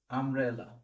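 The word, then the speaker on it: umbrella: আমব্রেলা উচ্চারণ কিসের মতো? ইউ এর মতো না, আ এর মতো হচ্ছে। যেহেতু ইউ এর মতো উচ্চারণ হচ্ছে না, তো সেক্ষেত্রে এখানে হবে অ্যান আমব্রেলা।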